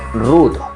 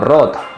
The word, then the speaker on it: root: aplicaciones de terceros Root el término Root o rot bueno depende de como se quiera pronunciar básicamente hace referencia a que